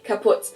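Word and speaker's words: kaputt: We spell it with two T's in Germany, but we pronounce it the same way. Kaput. Kaput.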